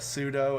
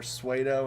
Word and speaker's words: pseudo: Like how I said pseudo as if it were Suedo until I was 18.